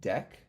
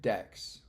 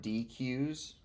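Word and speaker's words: deque: thing it's pronounced quote deck so Stacks cues and decks like a deck of cards not DQ's it's not DQ's it's decks okay Angela thanks so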